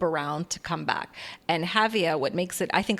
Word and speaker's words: Jávea: So Javea is spelled Javea, and I'm sure you can start hearing, when we do say towns or words in Spanish, we have that wonderful ja, Javea, and in Valenciano is Xàtiva, right, with an X.